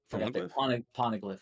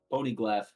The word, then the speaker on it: Poneglyph: Poneglyph. Yeah. No, I was Jesus. pronouncing the G twice for some reason.